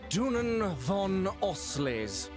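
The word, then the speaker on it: Dunan von Auslese: My name is Dunan von Oley. Finally, I know how to pronounce that name.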